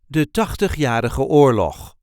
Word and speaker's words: Tachtigjarige Oorlog: There isn't really an emphasis on any of these words, just de Tachtigjarige Oorlog.